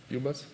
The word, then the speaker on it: ubus: It's right pronunciation, UBUS.